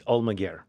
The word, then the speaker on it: Almaguer: And your last name, I always say it wrong, and it's Almaguer? It's Almaguer. Almaguer. So it's Spanish.